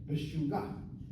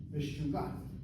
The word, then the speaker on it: meshuggah: Meshuggah is the same word, only we pronounce it the way the Moroccans pronounce it. Meshuggah. Meshuggah.